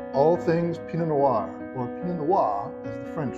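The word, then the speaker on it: pinot noir: Noir or P Noir as the French say yes we're going to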